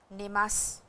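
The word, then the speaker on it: 寝ます: तो आप इसको नेमास मत बोलिए। सु को थोड़ा छोटा करके नेमास बोलिए। ने मा से लिखा वो सू जाता है लेकिन प्रोनाउंस स किया जाता है।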